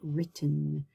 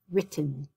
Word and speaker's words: written: my consonant i say written so my verb becomes uh my consonant rather my vowel becomes a short vowel sound written and in this one